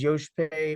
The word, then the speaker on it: Joshpae: location uh Yankee whiskey because my name is Yosh pay white so phonetically Yankee whiskey actual there you go and